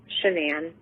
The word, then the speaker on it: Shanann: Shanann. Shanann, okay.